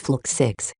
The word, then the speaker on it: Fluxix: What is this Order of Flix all about? It's pronounced Fluxix. Don't let anyone of the Order hear you butcher that word.